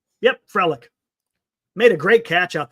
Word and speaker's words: Frelick: Yep, Frelick.